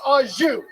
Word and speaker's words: au jus: A French dip is so luxurious, that shit comes with its own dipping sauce, and that dipping sauce is pronounced au jus.